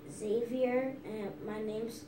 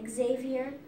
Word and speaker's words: Xavier: That, Miss Serrano, she calls me Xavier, but my name's supposed to be Xavier, and she spells my name by X. Xavier. That's Xavier. So it's very important to you that your name be pronounced correctly, right? Yes. So how would you like your name to be pronounced? Xavier with the X. Xavier with an X. So you have to pronounce the X.